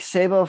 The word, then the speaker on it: Sabo: Dave the Snake Sabo from Skid Row, welcome to the Music Universe podcast.